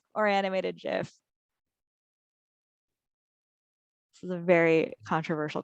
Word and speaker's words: GIF: Hard G is the only right answer, says Meredith.